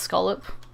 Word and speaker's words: scallop: have a scallop, and it's not pronounced scallop, it's pronounced scallop. At least over here it's pronounced scallop. I could be wrong.